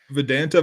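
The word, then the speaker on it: Vidanta: Is that how you pronounce it? Vedanta Vallarta.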